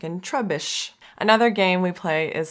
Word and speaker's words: Trubbish: Or if you're teaching how to break the syllable between the double B, trub, bish, or that the double consonant makes the U vowel short.